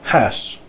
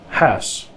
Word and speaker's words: huis: The UI blend is quite hard to pronounce and not found anywhere in English either, as in the word huis, huis, which is the word for house, but you don't want to pronounce it ow, like in house. It's as in huis.